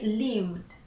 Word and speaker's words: lived: So we add the ED. We do not pronounce the E. We say lived, lived, lived.